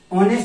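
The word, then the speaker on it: honest: ध्यान से देखिए, ऑनेस्ट से पहले यूज किसका किया जाता है, एन का। राम इज ऑनेस्ट, राम ईमानदार है। हमने आर्टिकल पढ़ेंगे उसमें बताएंगे कि यहाँ पर जो एच साइलेंट होता है और ऑनेस्ट ओ की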